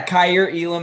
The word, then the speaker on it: Kaiir Elam: us a quick thought on those guys yeah cair elam out of florida uh that's the correct pronunciation there just length is the first thing